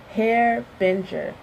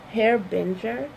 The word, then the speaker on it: harbinger: gave you a harbinger this is how you say it hair Binger hair Binger hair bitter herb enjoy